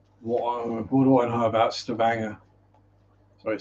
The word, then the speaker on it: Stavanger: Well, to pronounce it the English way anyway, not the Norwegian way.